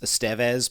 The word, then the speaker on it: Estevez: Emilio is technically, his last name is pronounced Estevez, but everybody calls him Estevez.